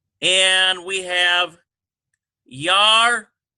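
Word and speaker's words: ירדן: And we have Yardane. Yardane. Like the Jordan River, Yardane.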